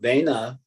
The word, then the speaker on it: Vena: So Vena, did I say it right?